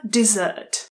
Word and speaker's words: dessert: A dessert. A dessert. Píše se se dvěma S. Pozor, tohle slovíčko, které je s jedním S, se vyslovuje desert. Desert a znamená poušť.